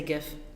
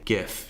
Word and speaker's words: GIF: I also say GIF. You know why? Because gift is only one other letter on there, G-I-F-T. Oh, so you're basically point. saying most of the word. I think technically the creator pronounces it GIF, but he's wrong.